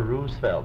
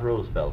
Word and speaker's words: Roosevelt: of Theodore Roosevelt Island it's Theodore Roosevelt not rule spell Franklin pronounced the Roosevelt